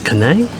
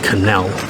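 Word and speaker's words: canelé: One, well, it's spelled as Canai, so I will tell you in French they say it's Canai. In American it'll be Canal.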